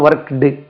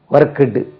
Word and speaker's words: worked: Past டென்ஸ்னா ஒர்க்டு, அது உச்சரிப்பு பாருங்கள். பாஸ்ட் டென்ஸ் உடைய உச்சரிப்பு ஒர்க்டு, இட்டில் முடியும். Spelling WORKED. அப்போ ED இருந்தால் இட்டு எப்படி சார் வரும், ஒர்க்குடு அப்படி தானே வரும், ஒர்க்குடு அப்படி கிடையாது, அது ஒர்க்ட்.